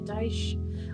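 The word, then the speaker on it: Deutsch: doesn't make sense but it's actually a mispronunciation of dice so it's Pennsylvania dice or more correctly that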